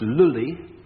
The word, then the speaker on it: Lully: An Italian composer. Yes, who... but a Frenchly pronounced name. Beginning with G? No. His name was Jean-Baptiste Lully, Lully was the man,